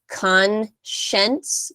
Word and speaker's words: conscience: uh is conscience um I guess that's a difficult one because it doesn't really sound like how it's spelled but it's conscience conscience um so that's um